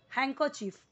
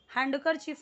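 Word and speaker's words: handkerchief: ना हैंड ठीक है तो यहां पर जब ये ये लग गया ना तो यह डी यहां पे पूरा का पूरा क्या हो जाता है साइलेंट हो जाता है देन हैंकर चफ हैंड करर चफ नहीं बोलना है हैंकर चफ हैंकर चफ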